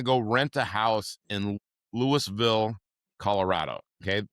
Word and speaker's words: Louisville: and and I'm going to go rent a house in Lewisville, Colorado. Okay. They don't call it Louisville there. It's spelled the same way, but they call it Lewisville, right?